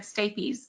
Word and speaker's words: stapes: Thank you for correcting my mispronunciation as well of this. You said stapes bone, is that correct?